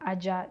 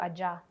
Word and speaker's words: Ajar: Ajar. It means we've left the door ajar.